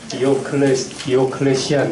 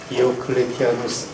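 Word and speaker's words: Diocletianus: 영어로 하면 콘스탄틴, 디오클레시안 이러는데 라틴 발음으로 이제 디오클레티아누스 콘스탄티누스 황제가 로마 황제가 이렇게 이어지는데 이 황제 때 이제 박해가 아주 극심하게 이루어졌습니다.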